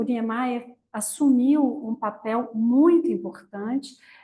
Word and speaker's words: Niemeyer: Lo pronuncian Niemeyer. Perfeito. en portugués.